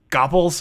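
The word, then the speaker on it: gopls: Gopples? Oh, that's so weird. I mean, I guess you can. So I saw gopples is how I've heard that pronounced mostly.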